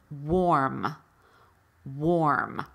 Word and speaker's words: warm: here or there but usually w AR is pronounced with an O R so it's spelled w AR but it's pronounced war and that's what's happening here warm warm so warm as in